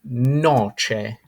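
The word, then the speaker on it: noce: nuts however to say one nut would be Noche Noche next up we have cast of the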